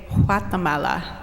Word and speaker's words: Guatemala: world country which is we like to say Guatemala that's how they pronounce it there and I'm from here and